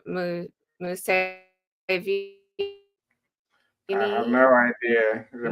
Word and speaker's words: Museveni: Museveni? I have no idea. The Michael Is that us? How you pronounce the name, or Yeah, that's right. Museveni.